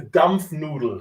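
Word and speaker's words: Dampfnudel: in Germany right now German special it's called pronunciation first a dump noodle can you say dump noodle dump noodle dump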